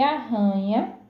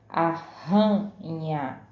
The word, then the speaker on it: arranha: Aranha, aranha tem o som fraco, por isso nós lemos aranha. E arranha tem o som forte, arranha.